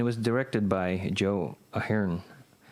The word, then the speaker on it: Ahearne: was directed by Joe Ahern. I think it's pronounced Ahern because that's how they say it on the commentary.